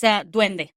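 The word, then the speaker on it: duende: So yeah yeah it's dwende that we call it dwende and um yeah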